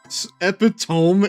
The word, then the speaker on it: epitome: Saying epitome, rhyming with epiphone or sounding like epihome is a very common mistake, but dictionaries do not list it as a valid second pronunciation.